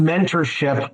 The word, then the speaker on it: MNTRSHIP: It's I'm sure it's pronounced mentorship, but the program is spelled MNTRSHIP.